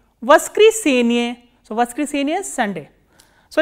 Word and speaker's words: воскресенье: And how do you pronounce this word? Voskresenye. Voskresenye.